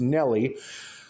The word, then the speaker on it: Nella: Barry Seal's Mena, Arkansas, and Nellie or Nela, depends on how you pronounce it, because it's spelled Nella, but it's pronounced Nellie.